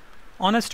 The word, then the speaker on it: honest: the rule it'll be an r honest man eight silent second letter is a vowel an honest man knife k silent n